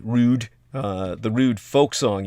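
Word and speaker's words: Roud: now steve raud uh the founder of the round r o u d r o u d rude uh the rude folk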